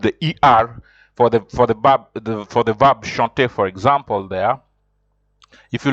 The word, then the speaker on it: chant: It is chant. Remember, in French, you don't pronounce the last consonant unless there's an e.